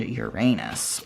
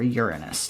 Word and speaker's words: Uranus: So this card is associated with air Aquarius and Uranus or Uranus depending on how you pronounce it.